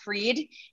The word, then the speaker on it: Fried: is the website so spelled like fried uh but it's pronounced freed and so go onto